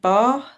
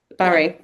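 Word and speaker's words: Barré: and friends um, who got um, I might pronounce this wrong, Jane bar syndrome. Is it Barry? Yeah. Barry.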